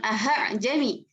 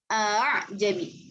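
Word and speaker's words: أأعجمي: Ingat ya, bukan aha-jami, tapi a'jami.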